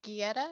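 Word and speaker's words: Guite: getty okay okay mr geddy um it's spelled g it's spelled g-u-i-t-e but it's pronounced like gettysburg yes because i i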